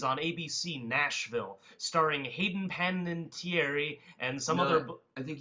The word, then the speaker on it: Panettiere: thrilling new series on ABC, Nashville, starring Hayden Panettiere and some other... I think you said her name wrong. It's Panini Hayden Terry. Hayden Panini? Hayden Panini Terry.